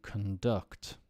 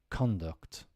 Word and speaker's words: conduct: on the first syllable if it's a verb the stress goes on the second syllable so let's do the verb to conduct to attribute to combat and then as a noun conduct okay your conduct hasn't